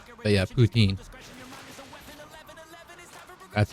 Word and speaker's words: poutine: That's what most people call it, but it's actually, its origins are French, and it's, I believe, pronounced poutine. But yeah, poutine.